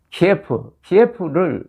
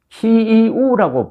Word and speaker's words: 키이우: 키예프를 우크라이나 대사관에서는 그것이 러시아식 발음이니까 키이우라고 불러달라고 합니다. 키이우, 키예프, 같은 지명인데 러시아식으로 부르지 말라는 거죠.